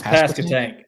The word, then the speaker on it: Pasquotank: Um, and before we get into the Pas Pasco tank, I believe I pronounced that correctly. How do you say this thing? I've been thinking about this all day. It's past a tank.